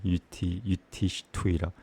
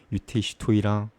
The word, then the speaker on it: Yudhishthira: And that's the proper way to say Yudhishthira. Yudhishthira, Yudhishthira, Yudhishthira.